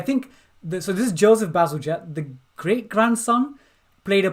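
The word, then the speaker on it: Bazalgette: I think I would have called it Basil Gett, but I think Basil Jet, Is like it a Basil jet plane, Jet? like a jet plane.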